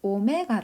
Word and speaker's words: 오메가: 라고 한번 좋겠습니다 자요 오메가 라고 하는 것은 그리스 문자 인데요 읽으실 때 오메가 라고 읽으시면 되면 자 그런데 이해를 오메가